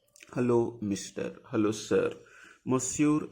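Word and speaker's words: monsieur: you don't know a male we call like mure mure like Mis mure Mister if you want to say like hello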